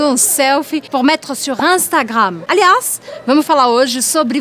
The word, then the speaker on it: Instagram: Então, a gente não fala Instagram, a gente fala Instagram. Eu já expliquei diversas vezes pra vocês que IN ou IM en français, je dis Instagram.